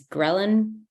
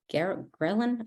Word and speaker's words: ghrelin: It's ghrelin. Ghrelin? I think it's ghrelin. It looks like the word gremlin, but it's a hormone